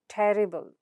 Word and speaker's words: terrible: So now where does the stress come? The syllable right before the suffix. So that is vis and ter. So it's visible, visible, and terrible, terrible.